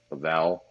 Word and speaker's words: Lavelle: brought in Rose um I Lavelle that's how you say it Lavelle and she really made